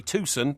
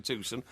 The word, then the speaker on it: Tucson: Sorry, Tusson. Tucson.